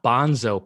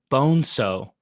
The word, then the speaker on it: Bonzo: I liked on how page 75, Card tells you how to say one of his characters' names. Not Bonzo, pisshead, Bonso. The name's Spanish.